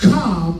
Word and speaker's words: comm: It's spelled C-O-M-M. Calm. C-O-M-M. I've never been in the military, but military people say when they say calm, that's short for communication.